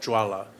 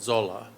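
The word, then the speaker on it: ज्वाला: It's written Jvala, but it's pronounced Jwala. Tibetans pronounce it Zola, which is easier.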